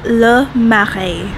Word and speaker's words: Le Marais: my favorite bakeries in San Francisco it's called lei marae I think I'm saying it right actually it's pronounced la ma hey whoa amazing foods I'm going to show you